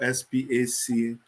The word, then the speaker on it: SPAC: Yes, SPAC is pronounced SPAC, as in SPAC.